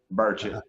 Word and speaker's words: Burchett: Burchett.